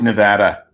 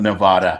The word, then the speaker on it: Nevada: It's Nevada, not Nevada. Okay, we're going to go down.